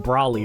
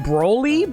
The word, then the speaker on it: Brawly: His name is pronounced Brawly, right? Yeah. Yeah, let me look up Brawly's Pokemon. I keep on wanting to call him Broly, but no.